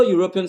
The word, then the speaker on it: European: we say a European even though European starts with the vowel letter E the first sound you hear when you say European is y y and that